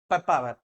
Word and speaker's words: Papaver: Piper, pepper. Pronunciation also similar. That's why do not get confused. Okay, Piper, pepper. But papaver is not pronounced as a pepper.